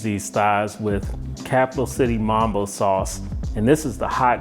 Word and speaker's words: mumbo sauce: thighs with capital city mambo sauce and this is the hot and sweet version now if you're not familiar with mambo sauce or as it's pronounced in the dc and virginia area mumbo sauce it's a sauce that